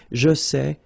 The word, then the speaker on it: sais: Here you write it S-A-I-T, okay, but then phonetically these three forms are the same, and it's c'est, okay? Je sais, tu sais, il sait, elle sait.